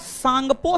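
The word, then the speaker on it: Tsangpo: full form होता है Indus सांगपो Sachar John T silent है टी साइलेंट है इंडस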